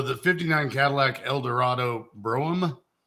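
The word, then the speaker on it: Brougham: 59 Cadillac El Dorado broam or Broham whichever way you pronounce it definitely Broham it's a bro well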